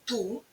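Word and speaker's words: tout: сьогодні Познайомимось з прикметником ту дуже дивним прикметником давайте спочатку роздивимось уважно його граматичні форми У чоловічому роді в одни дні звучить ту пишеться ти на кінці яка не читається приклад тульліва вся книжка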